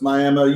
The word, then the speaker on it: Miami: It's spelled Miami, but everybody knows, it's Miami.